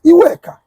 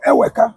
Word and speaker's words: Iweka: Anambra State, meaning that the first Oba of Benin was Iweka. They turned it to Eweka. Which one be Eweka? What kind of pronunciation is that? Eweke is Iweka. As time graduates, as time, goes on, they begin to modify pronunciation. They begin to modify alphabets. That Eweka is Iweka.